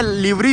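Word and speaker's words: livery: रहा हूं में उनमें लिवरी जो होती है एल आईवी ई आर ए लिवरी या लावरी मोस्टली लिवरी उसको ऐसा प्रोनाउंस किया जाता है अगर गलती हो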